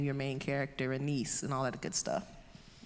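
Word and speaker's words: Annis: Why did you name your main character a niece and all that good stuff? I guess I could talk about the, like, I pronounce it Anis, but oh, okay. There's no right or wrong way.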